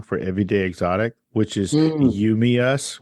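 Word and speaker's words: UMEUS: Everyday Exotic, which is You, Me, Us, which listeners, it's spelled U-M-E-U-S.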